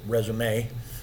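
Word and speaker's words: résumé: Can they look at this resume, and by the way, that's how you pronounce it, resume. That's why they have a little accent mark in the E.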